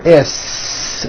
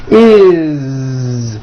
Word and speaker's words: is: It doesn't matter that it's spelled with an S, it's never is, unvoiced, never. It's always is with a voiced Z.